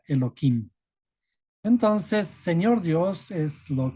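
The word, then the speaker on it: Elohim: se distorsionan y aquí en vez de pronunciar tal como está escrito se le pronuncia eloim entonces señor Dios es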